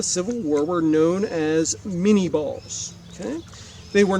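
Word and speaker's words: Minié: But when we looked at the French name Minet and switched it over to an American pronunciation, it looked like Minie.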